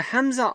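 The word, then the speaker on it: همزة: is our second letter, is basically a hamza sound. And we discussed the hamza earlier. The hamza, and this is the hamza here, is what we call the glottal stop, is a glottal stop.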